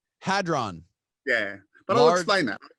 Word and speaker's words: hadron: hadron collider yep how do you say it hadron hadron yeah but i'll explain that yeah alex what